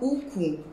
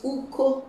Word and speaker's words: uko: So this is not uku, it is uko.